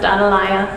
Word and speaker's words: Atalaya: out Tom I don't I in Spanish it's pronounced analya and yes it means Watchtower the center is